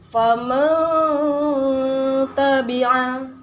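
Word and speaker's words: فَمَن تَبِعَ: Jadi bacanya disamarkan nun matinya kemudian didengungkan. Jadi bacanya faman tabi'a. Ada dengungnya sedikit sepanjang 2 harokat.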